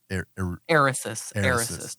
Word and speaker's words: Eresus: So it sounds like a Reese's cup, like that. But so say it one more time. Eresus.